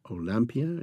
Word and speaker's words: Olympia: of man's painting uh Olympia olampia in the French pronunciation which Emil Zola had